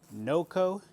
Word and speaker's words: NOCO: unbox this battery here this battery is by NOCO that's the right way to say it okay so here all